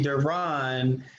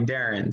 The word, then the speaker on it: Derron: worries um welcome um so is your name pronounced darren my mama calls me duran but my daddy called me darren so that's cool my